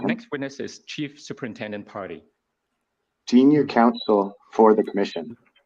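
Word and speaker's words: Pardy: commission and our next witness is Chief superintendent party Junior Council for the commission and we have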